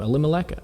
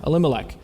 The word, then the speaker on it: Elimelech: Elimelech. Yeah, Elimelech.